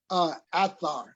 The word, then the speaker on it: Athar: Athar, with the letter A and Tha, Athar.